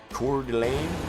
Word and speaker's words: Coeur d'Alene: That was the one that Yasso was trying to give us a proper pronunciation of it. Coeur d'Alene.